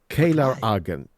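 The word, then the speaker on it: Caelar Argent: Kar Argent Ka Argent Kar Argent. That's the wording. That's the That's the pronunciation. Kaylor Argent.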